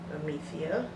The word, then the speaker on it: Amethea: If you didn't know how to say it, that's how you say it, Amethea.